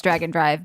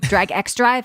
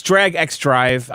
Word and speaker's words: Drag X Drive: But yeah, one of you guys needs to review this Dragon Drive. Drag X drive. How do you say it's it's Drag X drive?